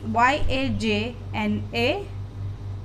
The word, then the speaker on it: yajna: This is Y-A-J-N-A. It pronounced yajna.